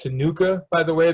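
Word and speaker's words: Ctenucha: head this is pronounced tenuka by the way that c is silent so i don't even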